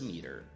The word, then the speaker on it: metre: No britânico, por exemplo, meter, né, que é metro, vai ser escrito com M-E-T-R-E. Então, vai ficar como se fosse metre, a pronúncia meter, né?